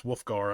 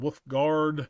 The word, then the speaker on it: Wolfgar: Uh, my middle name is Wolfgar. I've been called Wolfg Guard. with gear, all kinds of weird stuff.